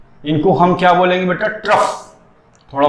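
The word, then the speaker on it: trough: ट्रफ। थोड़ा pronunciation देखना।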